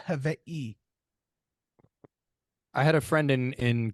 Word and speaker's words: Hawaii: Um Say I had a Hawaii, I had a not friend it's Hawaii, not Hawaii.